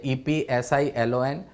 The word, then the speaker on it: epsilon: मैंने प्रोनाउंसिएशन भी यहाँ बता दिया है, EPSILON।